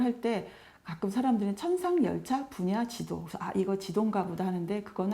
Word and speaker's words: 천상열차분야지도: 세계에서 자랑하는 그런 천군 돈대 제목의 천상열차분야지도 에요 발음을 할때 가끔 사람들은 천상열차분야지도 아니고 지동 가보다 하는데 그건 아니고 천성 하늘에